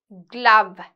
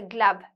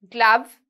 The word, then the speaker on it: glove: right so let's have a look at the pronunciation racket helmet net saddle Jersey glove GL right so don't say Glo it's a glove glove skates is SK right so when you don't